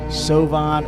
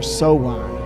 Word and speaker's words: Samhain: And in the Standard Encyclopedia of Folklore, Mythology, and Legend, it says this about Samhain. It says Samhain, and it's pronounced Sovan or Sowan.